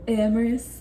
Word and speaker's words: Amaris: Her name is Amaris, not Amaris, not a Amamama. It sounds the way it's spelled, all right?